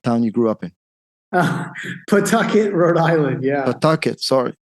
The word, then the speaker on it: Pawtucket: So Jay grew up in, and Jay, please forgive me, I cannot possibly pronounce that town you grew up in. Pawtucket, Rhode Island, yeah.